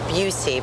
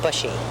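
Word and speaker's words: Buhse: not accounted for well the most important is Patrick Bucy but it's spelled b u HS e so a lot of people call him bushy and Edward D Simone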